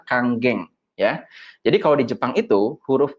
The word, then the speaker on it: Kangen: biasanya memangnya masih kangen Jadi sebenarnya ini dibacanya adalah Kang geng ya ya kita udah